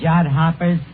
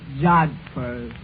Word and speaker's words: jodhpurs: Absolutely beautiful, Eddie, in her riding pants and her jod hoppers. Yeah, it was love at first sight. That word is pronounced jodhpurs.